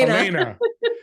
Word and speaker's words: Alaina: Welcome to the show, Alaina. I didn't say it right. Alani. Say Alaina. it for me. Alaina.